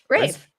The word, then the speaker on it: Ralph: is it Ralph or Rafe? Rafe. Yeah, Ray no, it's Rafe.